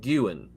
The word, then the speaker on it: Guin: They're spelled differently, but they're both pronounced Guin. So one of them is Guin, and the other one is GU-WIN. Gu-Win. So one of them's Gu-Win and one of them's Gu-Win, but they're said the exact same way.